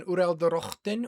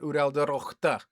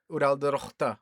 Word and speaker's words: Uraldorochta: And Ildegith is an Uraldorochten, which is they're a race of, oh, I mispronounced that, Uraldorochta. Uraldorochta, all right.